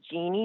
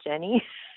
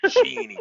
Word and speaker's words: Jeannie: Wait, can we just stop because my name is Jeannie, not Jenny? Jeannie. Thank you for the pronunciation correction. Like genie in a bottle, but it's not spelled like genie in a bottle.